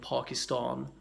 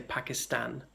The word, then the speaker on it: Pakistan: Now, again, there's an overstated version of that, people saying Pakistan, but they would be stratospherically posh, unlike me. I'm merely middle class, of plebeian origins. But, you know, people in Northern England might say Pakistan.